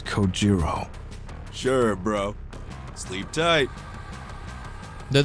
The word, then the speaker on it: Kojiro: Get It Go Jimbo the way he deliberately mispronounced my name really bothers me it bothers me so much that the anger boiling inside me gives me the strength to open my mouth once more it's kojiro sure bro sleep tight